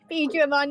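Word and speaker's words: Biyomon: Yeah, no, it's a Biomon, not Bergermon.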